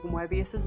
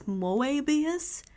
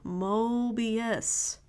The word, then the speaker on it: Moebius: Or does she think it's Moebius? It's Mo as in Mo. Moebius.